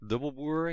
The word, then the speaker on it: Dubbelboer: Sure, I'm Dubbelboer, you pronounced it almost correctly.